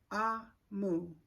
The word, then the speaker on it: Omu: and it says um pronounced ah Moo it's also the egg